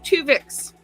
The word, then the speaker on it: Twovix: the first episode was two vix um not spelled with t u v i x but uh t two as in two the number two chicks uh Anson boimler learns